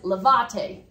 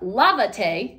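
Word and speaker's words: lávate: don't put an ax down here this says levate because the stress normally is found on the second to last syllable Tay is your new last syllable so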